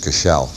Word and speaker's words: Cashel: The other great thing about Silken Thomas is that he burned down the Cathedral of Cashel, or the Irish pronounce it Cashel.